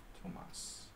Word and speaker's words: Tomas: Do you prefer Thomas or Tomas? Tomas. European pronunciation. Tomas. Hungarian's Tamás.